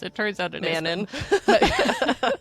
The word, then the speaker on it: Manon: So they pray to Manon, or they always pronounce it in this like really specific way, Manon.